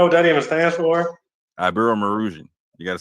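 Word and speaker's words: Iberomaurusian: So, do you know what the Abu Marasia? Do you know what that even stands for? Abu Marusian.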